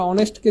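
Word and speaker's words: honest: দেখেন এই যে আমরা অনেস্টকে যদি আমরা ভাঙি, তাহলে কি দাঁড়াচ্ছে? অনেস্ট। কি দাঁড়াচ্ছে ভাইয়া? অনেস্ট। কি দাঁড়াচ্ছে? অনেস্ট। অথবা বাংলায় লিখলে কি? অনেস্ট। সো উচ্চারণের শুরুটা ভাওয়াল আসতেছে কিনা বলেন?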